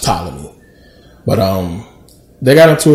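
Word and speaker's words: Ptolemy: for tmy it's just a thing but it's pronounced tmy but um they got into a war and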